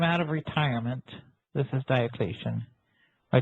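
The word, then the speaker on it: Diocletian: Mysteries he came out of retirement this is Diocesan or Deion as it's more correctly pronounced came out of retirement to try to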